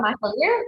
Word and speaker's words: McAleer: Ricard and Jameson, McAleer. Now, have I pronounced it right? I've been stressing all morning. Hi everyone, how are you? You pronounced it okay. It's McAleer, but you're close enough, so I'll give you that.